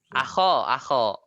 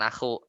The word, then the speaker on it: akho: Akho. Akhonya yang mustasna. Akho kan makanya bacanya akho kan, bukan aku.